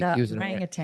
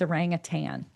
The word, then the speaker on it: orangutan: Say it the way you're supposed to, though. Orangutan. There's like the way people say it now. I don't think we say it right. Oh, I'm not familiar. I'm familiar with orangutan. I am too, but I feel like we've learned recently that it's like orangutan or something.